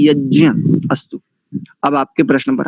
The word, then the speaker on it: यज्ञ: और बैंड बजा दी मुख नासिका वचन नासिका ये सानु सिक वर्ण है तो इसका शुद्ध उच्चारण होता है यज्ञ नासिका और मुख कंठ दोनों की सहायता से होता है इसका उच्चारण इसका शुद्ध उच्चारण है यज्ञ अस्तु अब आपके प्रश्न